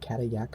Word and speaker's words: Cadillac: is uh cat cat it's spelled cadillac like the car and we'll talk about that in just a second um but catayak wanted i believe is the pronunciation um exposed granite domes